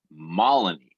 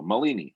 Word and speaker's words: Malini: all i want to let everyone know the pronunciation of her name is malini maloney malini and so anyway just like melanie